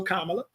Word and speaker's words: Kamala: I don't mind it because my name gets butchered. So let's just get it right. So Kamala.